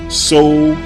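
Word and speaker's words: Soudan: However, the antiquity spelling was S-O-U-D-A-N, So-U-Dan, which is simply 2 words combined into one, So-U-Dan. Now, let's use Google Translate to look up the meaning of the words So-U-Dan.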